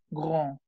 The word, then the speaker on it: grand: Alto termina en D. La D no suena. Es grand.